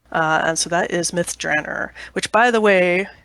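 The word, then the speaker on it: Myth Drannor: which by the way there is a huge amount of dispute internally about how to pronounce that everyone seems to have their own special way of doing it but I'm going with the Ed Greenwood version which is myth drer okay that I was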